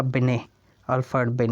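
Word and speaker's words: Binet: जो अल्बर्ट अभिनय है इसकी स्पेलिंग में ब्याह एनडीटीएल लेकिन इसका साउंड निकलेगा बने और फास्ट व्हेन ए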